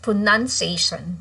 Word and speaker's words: pronunciation: By the way, for verb, okay, it's pronounced with the O, but if it's used as a noun, then it's just pronunciation without O anymore.